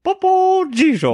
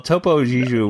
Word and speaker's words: Topo Gigio: Popo Gigio. Not Popo. I don't know. Popo Gigio. Well, Topo Gigio was before our time anyway, so it's okay really that you don't know how to pronounce it.